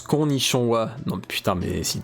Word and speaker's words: Konnichiwa: Ça se prononce Konnichiwa.